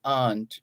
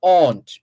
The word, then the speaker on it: aunt: It's not aunt. It's never pronounced aunt unless you're speaking another language. If you're speaking English, A-U-N-T is pronounced aunt. Aunt. A-U-N-T, aunt, not aunt. Aunt.